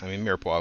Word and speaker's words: mirepoix: I think Trinity is, Mirepoix, of course, is French. It's a nice French word, spelled with a bunch of extra vowels and an X that you wouldn't be able to hear in there if you didn't know.